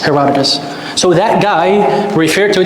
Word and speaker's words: Herodotus: are you talking about herodicus um is it the same I don't know how to pronounce the same okay how do you pronounce it Herod the Greek name is Herodotus Herodotus so that guy refer